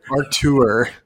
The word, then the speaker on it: Arthur: Artur. The H is silent.